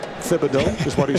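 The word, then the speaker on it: Thibodeau: So now people call him Tibido but he said the correct pronunciation is Tibido because it's the French accent.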